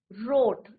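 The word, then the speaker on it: wrote: का क्या होगा बच्चों रोट right रोट रिटन डब्लू क्या है य पर silent right रोट रोट अ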